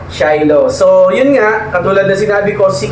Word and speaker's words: Shiloh: by shilo Ayan so Mali pala ako kanina shilo yung sabi ko so ang tamang pronounciation niya ay food cravings by shilo So yun nga katulad